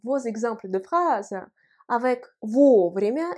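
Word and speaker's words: вовремя: exemples de phrases avec vos vraiment écrit ensemble l'accent tonique frappe premier royauait le haut cela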